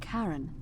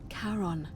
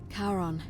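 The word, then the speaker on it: Charon: name you heard wasn't Karen it was c h a r o n as in karon the fman of the Dead karon who in exchange for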